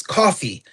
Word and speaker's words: Kofi: He was coaching me on the right way to say Kofi Kingston's name. He said it's Coffee.